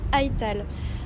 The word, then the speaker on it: Aital: Il s'appelle Aital. Aital, qui est en fait, qui se prononce Eita en langue d'Ossien, et qui veut dire ainsi.